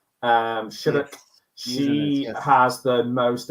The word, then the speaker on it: Shattuck: I always get her name wrong, but I think she's called Shari Shattuck. Shattuck.